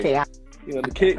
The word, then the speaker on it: Keaka: Keaka.